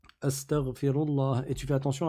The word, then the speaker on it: Astaghfirullah: Rabbi ghfirli, ou bien Astaghfirullah. Astaghfirullah, et tu fais attention à bien le prononcer. Tu dis pas astaghfirullah avec un kha, mais tu le dis avec un ghayn, astaghfirullah, et ainsi de suite.